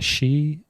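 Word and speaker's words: Shieh: Uh Rebecca Shei, I think is how it's pronounced. And um really nice. She does these cool rizle prints and um it's it's pronounced or it's spelled s h i e h.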